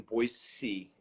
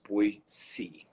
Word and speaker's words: Boise: guys how's things in Boise you're not allowed to say Boise I found out they'll correct you it's pronounced we see so now you know